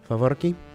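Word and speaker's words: faworki: Favorki. Very good, Ian. Is that carnival Excellent snack?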